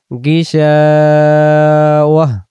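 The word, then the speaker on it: غشاوة: ওয়াজআলা আলা বাসারিহি গিশাওয়াহ, দম ছেড়ে দিব এবং এই গোলতার দুই জবরকেও বাদ দেব, দিয়ে গোলতাটাকে হা বানাই দেব। গিশা ওয়াও ওয়াও হা জবর ওয়াহ, এখানে এমন উচ্চারণ হবে। এই গোল মার্কের ভিতরে দেখতে পাচ্ছেন ওয়াও হা জবর ওয়াহ উচ্চারণ হবে গিশাওয়াহ।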